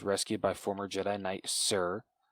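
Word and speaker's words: Cere: by former jedi knight sir is that how you say her name is it sir sir like uh now that you said that i feel like it was almost like seer like yeah i think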